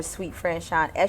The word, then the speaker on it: SuiteFranchon: The website is peacelovepoetry.us or SuiteFranchon, SUITE, spelled like the hotel suite, franchon.us.